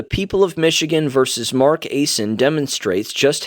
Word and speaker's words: Aisen: Mark Aisen, I'm going to pronounce it Aisen, I think that's it, A-I-S-E-N, was arrested near